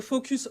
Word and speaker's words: FocusOns: quoi alors pour info on prononce focus on dit pas le S mais pour franciser tout